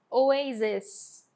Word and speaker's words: oasis: Então a pronúncia dessa primeira aqui no singular é oasis, com E, oasis, tá bom?